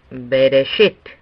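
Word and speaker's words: בראשית: login en segundo lugar vemos bereshit veréis et consiste en tres sílabas de de set sobre la base de la premisa de que pérez & no tiene ninguna marca distinta la última sílaba sería subrayado entonces lo pronunciamos bereshit el siguiente en la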